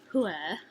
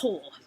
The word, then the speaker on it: Whore: Oh, and we had a customer whose name was Whore, and we pronounced it as Huer, and she was like, no, it's Whore.